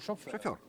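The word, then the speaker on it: sofőr: Шофер. А как по-венгерски пишется шофер?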